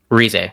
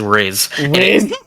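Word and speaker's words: Rize: Rez.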